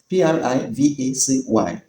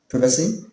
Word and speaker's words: privacy: P R I V A C Y in British English, privacy. In American English, privacy.